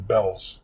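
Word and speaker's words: Bealls: My wife's in Bell's shopping. Bells is a clothing store. Spelled B A L LS. And don't pronounce it be because they get mad at you. Bells like southern bell.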